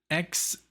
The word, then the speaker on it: Xnoybis: This is from 1994, and this is called Xnoybis. Like xenomorph, almost like, you know, that's what I told him. Or like the alien, you know, the xenomorph, the alien. But yeah, this is the Xnoybis, and this is from the band Godflesh.